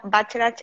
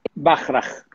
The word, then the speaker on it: Bachrach: conocen, les presento a Estanislao Bacharach. ¿Está bien pronunciado tu apellido? Bachrach.